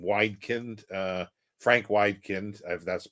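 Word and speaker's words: Wedekind: by uh what's his name widin uh Frank widin that's the pronunciation Earth Spirit 1895 and Pandora's Box 1904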